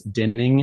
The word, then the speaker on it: Dinning: And my mom's maiden name is Dinning. It's spelled like winning with a D.